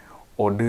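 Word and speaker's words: eau de: Blue o guok kemarin selalu bacanya ea de o kemarin itu apa ya gua lupa lagi pokoknya dibacanya bukan eod parfum tapi Ode gitu Ode parfum gitu Ini ukuran 50 mili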